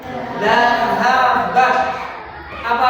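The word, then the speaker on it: ذَهَبَتَا: Ditambah belakangnya tak sama alif. Bacanya gimana? Dhahabata. Dhahabata. Ya.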